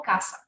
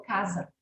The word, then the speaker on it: casa: Escreve com S, mas eu pronuncio como se fosse com Z. Não falo caça, falo casa.